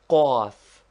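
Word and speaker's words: قاف: This guttural consonant is pronounced with a vowel by contracting the throat. Say kaf first naturally, then with a short a sound and contracted throat like the cawing of a crow.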